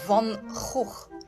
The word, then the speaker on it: van Gogh: No. It's Van Gogh.